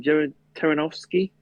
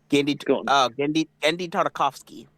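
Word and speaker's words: Genndy Tartakovsky: One of them is another one of yeah, how do you pronounce his first name? Jared Taranovsky. Gendy Tartakovsky.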